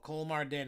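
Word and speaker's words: Kolmården: Oh, Cole Mardin is what Lindsay said is how it's pronounced.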